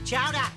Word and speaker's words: chowder: new england clam chowder it's chowda say it right all right let's give